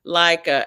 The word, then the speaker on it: Leica: In English, the rule is when two vowels walk together, the first one says his name and the second one is silent.